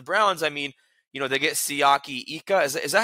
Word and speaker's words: Siaki Ika: Bengals, for the Browns, I mean, they get Siaki Ika. Is that how you say his name? The Baylor defensive tackle? Yeah, you nailed it. Siaki Ika.